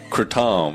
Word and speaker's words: kratom: Kratom.